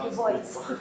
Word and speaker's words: Du Bois: Du Bois, it's actually pronounced Du Bois.